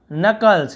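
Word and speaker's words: knuckles: Crack the नकल्स, इसे नकल्स पढ़ते हैं, नकल्स यानी उंगलियां चटकाओ, तो के साइलेंट होता है, के को पढ़ते नहीं है लिखते जरूर हैं।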